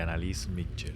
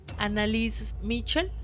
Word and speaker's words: Anneliese Michel: Para empezar es sin T, Mitchell. Es Yo sin- le estoy metiendo como una T. Es sin T, ¿cierto? No, sí, entonces es Annalise Mitchell.